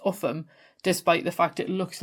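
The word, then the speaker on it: Ulgham: Our final English one is Upham in Northumberland, and this one often confuses people outside of the northeast because it's pronounced Upham despite the fact it looks like it should be something like Ulgam, and that was why I wanted to have a look.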